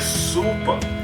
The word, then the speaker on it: zuppa: right and of course to pronounce super it's like super mario yeah oh yeah that's